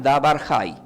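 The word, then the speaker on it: דבר חי: Se pronuncia Dabar Hay.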